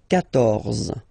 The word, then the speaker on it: quatorze: So remember Q and U here. Well, basically you get to put this U vowel, because that's the rule in French, even if you don't pronounce it, okay? So you will get the sound K here.